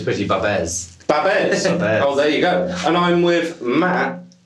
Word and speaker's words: Pretty-Babs: Is that how you pronounce it? That's right. No, cool. it's Pretty-Babs.